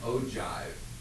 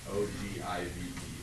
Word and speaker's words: ogive: Ivy likes to call those the cumulative frequency diagram that you drew an ogive is how you pronounce it. But O-G-I-V-E, ogive is how it's supposed to be.